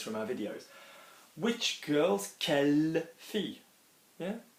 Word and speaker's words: quelle: Which girls, quelle fille. Yeah? Quelle fille, it sounds the same, unless of course you